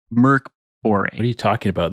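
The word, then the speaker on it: Mörk Borg: Mork Borg.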